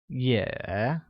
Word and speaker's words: 也: Also translates to 也, which is pronounced with a falling rising tone, like 也.